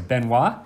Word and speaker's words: Benoit: So, first up, we are going to have Benoit coming back at it. And I actually spoke with him last night. I did pronounce his name correct. So, Benoit.